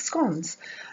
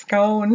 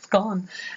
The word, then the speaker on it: scone: And I was like, no, you pronounce it the wrong way. It's not how you say it. It's scone, not scone. And then I realized, okay, you can really say scone.